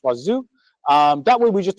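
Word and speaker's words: Wazuh: I promise it's pronounced Wazu.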